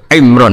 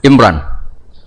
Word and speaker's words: Imran: Dari sana Bugis Imran, jadi orang sana nggak pakai ro. Kalau orang ngerok jadi pakai ra. Kalau ainnya? Ain pakai ain. Berarti apa? Imron gitu. Ya kalau sana tulisan KTP Imran. Apa bacanya orang-orang Sulawesi? Apa? Imran.